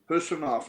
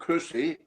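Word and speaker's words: Khusanov: It's Hayes and Husanov, not Kusi, Husanov. It's not K-H, it's H as in Holland.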